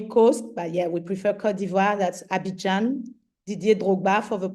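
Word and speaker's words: Côte d'Ivoire: I'm from Kivoir, Ivory Coast, but yeah, we prefer Kodiva.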